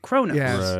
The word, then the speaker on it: Kronos: that it's spelled like Kos but they always pronounce it Kronos I agree and I prefer Kronos myself Kronos sounds cool I mean to be